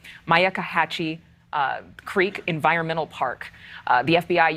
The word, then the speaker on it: Myakkahatchee: remains found in the, let me make sure I say this right, Myakkahatchee Creek Environmental Park.